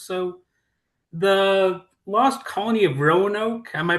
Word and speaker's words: Roanoke: So, the lost colony of Roanoke, am I pronouncing that correctly even?